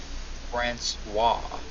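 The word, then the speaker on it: François: Or Francis. Some people say Francis, but Francois. Francois.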